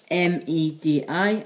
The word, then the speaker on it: Medi: September in Welsh is spelled as M-E-D-I, and is said as Medi.